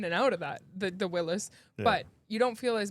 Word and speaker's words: Willys: It's a Wiley's. Willis. A Willis. Thank It's you. spelled with a Y, but it's still pronounced Willis. Willis, and it is 4-door.